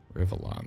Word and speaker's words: Rivellon: Rivellon, that's how you pronounce it.